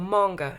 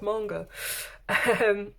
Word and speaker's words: manga: Okay, so we've got a whole pad of manga paper, or manga as my son would say. It's pronounced manga.